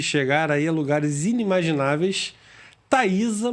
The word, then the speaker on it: Thaisa: e que pode chegar aí a lugares inimagináveis, Thaisa Muniz. É assim que se pronuncia seu nome?